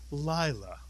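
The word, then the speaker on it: לילה: The first syllable would be Mitsuyan, lie. Lie is correct. The second syllable, la, Mitsuyan. Put the word together, Lila, Mitsuyan.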